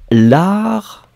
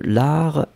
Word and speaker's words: art: Ici, on est à la recherche de l'art, L-A-R-T. Le T final n'est pas prononcé.